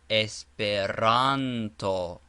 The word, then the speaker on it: Esperanto: The accent or stress is always placed on the syllable before the last as esperero. Espiranto.